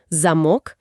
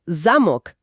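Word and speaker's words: замок: El ejemplo clásico que siempre dan es zamok, con acento en la O, es candado. Ajá. Pero zamok, con acento en la A, es castillo.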